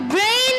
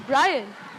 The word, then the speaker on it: Brian: got my name wrong my name's Brian not brain oh of course I'm